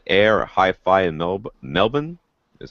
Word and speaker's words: Melbourne: jason says that sound air hi-fi in milb melbourne is how they say it there but melbourne is how the rest of us say it